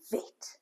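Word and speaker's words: בֵית: bait is one of the Hebrew um letters that if it has a dot in it, it's pronounced one way and if it doesn't, it's pronounced another way.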